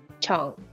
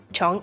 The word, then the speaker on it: 정: I want to practice words in Korean that have the syllable chong. In romanized, it is spelled as J-E-O-N-G. I will ask you to give me 5 words that have the word chong in them, and then